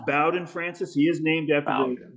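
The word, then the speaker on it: Bowden: I'm just kidding so so um it is pronounced Bowen Francis he is named after the college football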